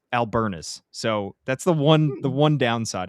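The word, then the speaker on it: Albernaz: And Craig Albernez is Albernas.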